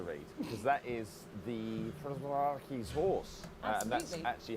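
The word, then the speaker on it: Przewalski: Well, that's easy to read because that is the Prozraki's horse, and that's Absolutely. actually how you say it in the native tongue. So So that is the Przeworski's horse that exactly we how have I here said as it.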